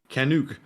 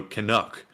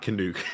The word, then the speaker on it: Canuck: and by the way it's pronounced Canuck like Duck so Canuck not Canuck regards once again from